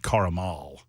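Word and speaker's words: caramel: and strawberry and salted caramal how about that I said it I said three syllables caramal uh it's 32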